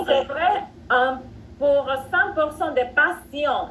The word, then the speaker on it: patient: Pour 100% des patients, la T, dans ce cas, ça se prononce comme C.